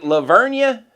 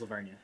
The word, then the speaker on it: La Vernia: I don't know if I necessarily Is it Leveria? That's right. Yeah, that's where I was. That's where I did my growing up was Leveria.